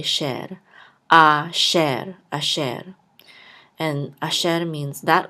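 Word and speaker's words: אֲשֶׁר: says and this resh will close out the syllable, so this will say sher. Asher, asher.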